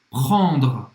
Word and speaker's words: prendre: Olha essa pronúncia. Prendre. Prendre. Prendre. 2 R's de uma palavra só. Então, prendre, no começo vai ser normal você ter dificuldade mesmo.